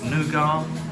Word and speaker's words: nougat: Nougat or nugget, depending how you say it.